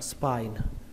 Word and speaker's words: spine: Cái từ đầu tiên các bạn đọc là spine, âm y nhưng mà chúng ta đọc là âm i, spine, và kết thúc bằng âm n, spine, spine.